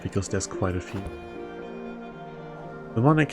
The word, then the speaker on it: mnemonic: Mnemonic has a silent M at the beginning. No, it doesn't. I'm quite sure it's pronounced mnemonic.